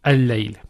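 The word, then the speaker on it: الليل: So the first lam does not get pronounced. So it will be al-layl.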